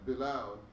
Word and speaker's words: Belial: But the sons of Belial, you said it right the first time. Belial shall be all of them as thorns thrust away, because they cannot be taken with hands.